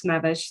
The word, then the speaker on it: Mavish: Correct my pronunciation. Is it Mawish? I see your hand. Yes, you're right. It's Mavish. Thank you so much for giving me a chance.